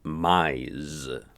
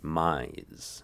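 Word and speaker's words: mais: a hugely important word right mize you say mize all right i need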